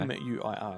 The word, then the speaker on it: Muir: But the Charles Bantai is that the writer of Critters was Dominic Muir. I think that's how you pronounce his surname. Right, It's okay. M-U-I-R. I think that's Muir.